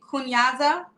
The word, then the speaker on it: kunyaza: Is it kunyaza? I'm saying it right? Okay. Perfectly.